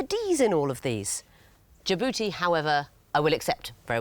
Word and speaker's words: Djibouti: Djibouti And why would that be? has a silent D at the beginning of it.